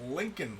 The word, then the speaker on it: Lincoln: Oh, it's pronounced Lincoln, like the president.